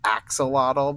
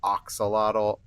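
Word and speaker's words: axolotl: Now, I'm told it's axelottle, but I always pronounced it oxalottle. And maybe that's wrong.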